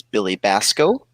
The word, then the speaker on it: Billy Basco: The C is silent. It's Billy Basco.